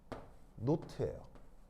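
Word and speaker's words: naught: 잘 안 하기 때문에 공식 발음은 노트예요 공식 발음을 노트인데 노트라고 뭐 잘 얘기를 안 해 그냥 제로 이렇게 표현하는데 원래 표현은 제로가 아니고요 정확한 이름은 노트입니다 그렇죠 그래서 표준이라는 의미를 저렇게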